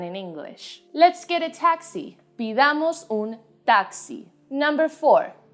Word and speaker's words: taxi: taxi in spanish is taxi the difference in this one is almost unperceivable my only recommendation is to make the t sound very sharp taxi in spanish consonants tend